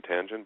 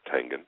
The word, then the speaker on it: Tangen: popularity, you know, the the most people say Tangen, but it's it's Tangan.